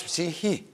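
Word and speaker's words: ψυχή: a Greek word, and in Greek, the Greek don't pronounce it sh, they pronounce psihi, psihi.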